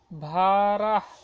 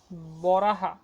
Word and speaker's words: বরাহ: দেউলনগর royal astrologer named ভারাহ ভারাহা বরাহা ভারাহা এটা ইংরেজিতে তোমরা একভাবে উচ্চারণ করলে হলো কিন্তু বাংলাতে এটা আসল হবে হচ্ছে বরাহ এটা বরাহ বলাই ভালো